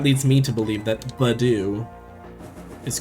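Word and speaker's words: Budew: Badoo. How do you pronounce it? Because it's supposed to be like bud and do, right?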